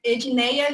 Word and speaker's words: Edinéia: uma longa história mas paulo roberto não consegue pronunciar meu nome aqui mas é edinéia é pode me adicionar lá no